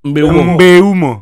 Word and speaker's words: Mbeumo: Mbeumo. Itu kalau lawan Salah City semua, tahu lihat Indonesia salah. Bukan Mbuemo. Mbeumo.